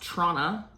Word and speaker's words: Toronto: from church music in Toronto, which I did not just say like a local just so everyone would notice talking about that city is actually pronounced Tronna with no T's if you're a local.